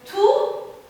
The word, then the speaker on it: tout: Alors, il y a le son qui devient muet, qu'on ne prononce pas. Un peu de tout, tout, tout.